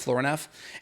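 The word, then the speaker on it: Florinef: i think it's flooring f is how it's pronounced floor enough and that's a bioidentical type of aldosterone that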